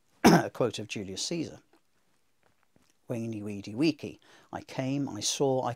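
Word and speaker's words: veni vidi vici: Weeny, weedy, weeky.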